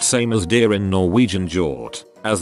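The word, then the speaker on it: hjort: as deer in norwegian jort as the G and H is silent so whenever I say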